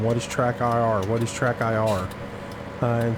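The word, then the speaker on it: TrackIR: quick do love having track R in the game it's uh track IR I have to pronounce that a little bit better I'm shocked at how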